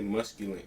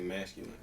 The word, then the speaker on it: masculine: He say musculant. He don't know how to say masculine.